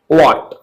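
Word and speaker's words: what: मेरे दोस्त फर्स्ट कासेप्ट है कि यदि डब्ल्यू के बाद यदि डब्ल्यू के बाद एच आता है क्या? एच तो साइलेंट होता है।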